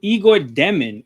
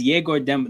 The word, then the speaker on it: Yegor Demin: Okay, so Igor Demin, or Yegor, I think his name is Yegor Demin. Like, that's how it's pronounced.